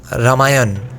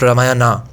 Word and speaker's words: Ramayana: in in eastern India those words are usually pronounced without that a like ramayana not ramayana Mahabharata not Mahabharata similarly in Bengali we